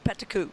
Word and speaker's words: Peticu: Candace is going to be a really Peticu. That's how you say her name, Peticu.